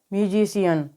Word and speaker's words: musician: IA दे रखा है, तो जब सी के बाद में IA आता है तो सी का उच्चारण श होता है। तो यहाँ पर सी का उच्चारण श होगा, तो MUSICIAN को हम क्या पढ़ेंगे, म्यूजिशियन। जब सी के बाद में